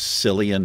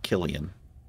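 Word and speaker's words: Cillian: mhm Killian I always thought that actor's name was selian Murphy it's actually he pronounces it Killian great actor guy's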